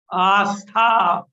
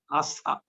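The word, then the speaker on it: आस्था: Say it like this. Astha. Astha.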